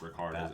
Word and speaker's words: Ricard: I believe it's going to be pronounced Ricard as we go through the season.